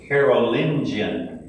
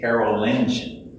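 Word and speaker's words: Carolingian: Then Carolenion is what it is. Okay, that's how you say it. Carolen.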